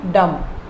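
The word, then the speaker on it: dumb: ऐसे ही ब्लाइंड, डम, ये डम है, बी इसमें साइलेंट है, डम।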